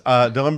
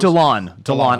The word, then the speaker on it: Dyllon: Dylan Burnside from Pose. Delon. I've sorry. made the egregious Delon error Burnside. of mispronouncing that.